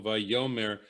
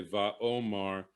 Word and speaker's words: Vaomar: Vayomer, apparently there was a yud in the original text, but the rabbis don't want us to pronounce that like Vayomer or Vayomar. They want us to say Vaomar, and I answered instead of and he answered.